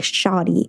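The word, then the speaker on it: shawty: would think of it I mean it spelled like s h a WT y like shotty like come on like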